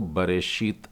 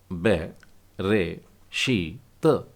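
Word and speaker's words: בְּרֵאשִׁית: लग गए हैं तो अब इसको बशत नहीं बोलेंगे आप नहीं तो ये गलत हो जाएगा इसका सही उच्चारण आएगा ब रे शत बरे शत एक और शब्द देखते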